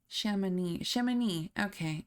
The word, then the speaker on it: Chamonix: Yeah, pronunciation. Chamonix.